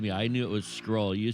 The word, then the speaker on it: Schrole: a hard time but the name comes from um two words together school and roll and so the is so it's it's pronounced scroll I win the bet